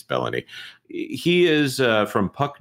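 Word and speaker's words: Belloni: Matt bellony or baloney depending on how you pronounce it I think it's baloney I'm kidding it's bellony he is uh from Puck news and he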